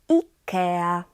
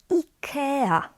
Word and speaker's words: IKEA: And in Polish, the I, A, we pronounce as ea, ea. Because in Polish I is e and a is a. So for example, we pronounce this as IKEA, IKEA, or Beata, Beata.